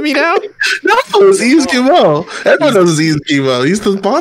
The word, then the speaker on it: Yves Guillemot: No, it was Yves Guillemot.